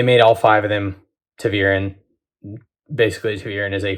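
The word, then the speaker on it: ta'veren: just just right here listen to how i'm pronouncing it to the urine it's how it's pronounced you're welcome they made all five of them tavirin basically two urine is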